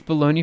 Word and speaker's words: bologna: do we have here how to pronounce it in english a bologna i see interesting uh it's baloney for north american lunch meat see that's what